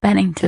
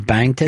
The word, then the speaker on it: Bennington: Bennington Bennington Bennington just Bennington it doesn't have to be an emphasis on any syllable just let it flow if I don't put